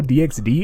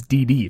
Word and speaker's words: DxD: me like in highschool DxD it's not D XD it's D D for double D's boobies that's [